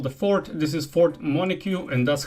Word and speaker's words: Montague: This is Fort Montague, and that's how you pronounce the name.